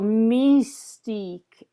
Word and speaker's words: mystique: to hear misty cabaret so mystique with the sense of it's how you pronounce the s and the e mystique and the everything right up here in the top of your mouth but not not upbeat